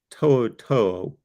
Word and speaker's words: Toto: one interception uh Henry I call him tutu but it's not pronounced that way how do you pronounce his last name Toto Toto 111 tackles four sacks one